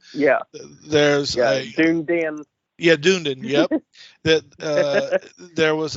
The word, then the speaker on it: Dunedin: Well, so on our way up to Dunedin, which is spelled like Dun. Yeah. There's Dunedin.